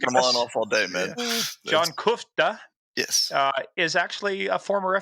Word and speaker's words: Kuchta: this, but some people look at your name and they'll think it sounds like Kuchta, but it's Kuchta. Did I pronounce that right? Kuchta?